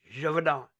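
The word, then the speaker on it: Gévaudan: to say it Gad it's French Jadon say it Jadon is that actually it or you just me are you pulling that's French say it Javon Javon Javon Javon let it roll off your lip javonon there you go now you got it a woman was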